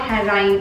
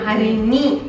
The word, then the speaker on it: Harini: I'm not Harain. I'm Harini. My name is Yeah, Harini.